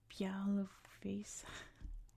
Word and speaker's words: Białowieża: If we go back here, I think it's pronounced Białowieża. The huge national park in